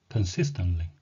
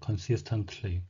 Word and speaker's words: consistently: 이것은 T를 강하게 발음하면서 L을 살려서 consistently, consistently가 아니고요. 세 개의 자음이 겹침으로 해서 요거는 가운데 자음을 약하게 발음하거나 거의 없다는 듯이 하시면 됩니다. 그래서 한글로 표현한다면 consistently, consistently 이런 요게 좀더 가깝겠습니다. 정확하진 않지만.